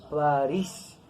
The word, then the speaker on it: París: hablamos de la ciudad decimos parís con acento aquí en la última sílaba ya está terminada en